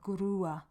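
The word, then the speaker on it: grúa: truck you need a grer a grer now that is a hard G as well because it's followed by this r there's no U there so it's a grer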